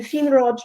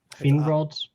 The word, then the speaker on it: Finrod: And also, I just looked up how you pronounce the I in Sindarin and Quenya, and it's not E. So Finrod is wrong.